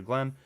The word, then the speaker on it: Glyn: I don't hear the distinction as much. It's just like Glenn with Glenn.